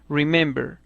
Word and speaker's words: remember: t otro ejemplo es el verbo remember que tiene tres sílabas y su acento no lo tiene en la tercera sílaba sino en la segunda sílaba no en la última remember así remembering que ha